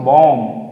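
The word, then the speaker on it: bomb: यहां पे बी ओ एम बी यानी बी को हमें साइलेंट करना है क्योंकि क्या है ये एम के बाद है तो क्या बोलेंगे क्या बोलेंगे इसको बॉम या है ना बॉम ठीक है यहां पे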